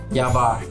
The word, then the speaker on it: YABAR: The bar is called Y-A-B-A-R. Do you know how it is pronounced? Ya Bar.